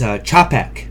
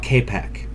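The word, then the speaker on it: Čapek: It's Chapek, not Kapek. Oh, I see. Well, because he's Czech, and I guess Czech people have... I guess there's a silent H in the Czech language, which I did not know.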